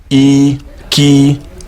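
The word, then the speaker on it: ike: good the next word that we'll talk about is spelled e key a key a or in English language you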